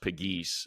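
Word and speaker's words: Pegues: Pull up the YouTube and just just uh JJ, it's P E G pronounced Piggee.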